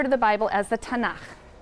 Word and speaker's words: Tanakh: also on that sheet tanak which is really the letters t n and um and they put little A's in there to make it easy to pronounce because is hard to pronounce so tanak okay um and this is